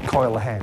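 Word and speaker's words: Coel Hen: We usually spell it these days like that or something, but in modern Welsh, coil, like that, coil hen, coil the old, okay?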